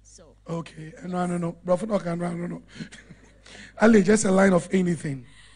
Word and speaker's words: Adelaide: But how do you mention, how do you pronounce your name? Adelaide. Adelaide.